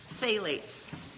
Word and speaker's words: phthalates: It's phalates, phthalates.